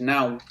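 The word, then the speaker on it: não: As in the word no in Portuguese is now, N A tilde O, now, and it's similar to what you did at the end, the last word of your sentence.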